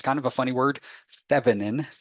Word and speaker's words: Thévenin: now okay so thin equivalent circuits when you pronounce that it's kind of a funny word fanin fanin um fine equivalent circuits uh are are useful